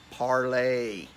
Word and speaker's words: Parler: It is in fact pronounced parlay.